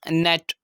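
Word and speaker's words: gnat: spelling rule है की कुछ ऐसे शब्द होते हैं इंग्लिश में जिम जी जो है वो अल्फाज के स्टार्ट में हो और जी के फॉर्म ए जाए तो ऐसे शब्द में हम जी को साइलेंट कर देते हैं एग्जांपल से समझते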